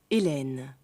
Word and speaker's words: Hélène: Elen hier zwei Akzente einmal accent vor dem L und Öxentrave nach dem L.